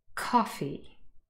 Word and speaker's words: coffee: the word coffee naturally coffee coffee the first syllable is louder a little bit longer and easier for us to hear because it is the stressed syllable in the word and